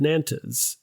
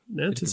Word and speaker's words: Nantes: He revoked the Edict of Nantes. I'm mispronouncing that. Nantes. I've always read it as that.